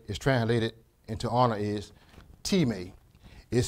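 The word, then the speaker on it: τιμή: translated into honor is teammate is spelled t IM e not pronounced like our english word of time but it's pronounced as teammate that's t ee -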